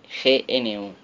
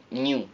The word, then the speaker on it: GNU: New Aunque bueno talman para evitar confusiones recomienda pronunciar gn o algo así parecido Vale gn entonces claro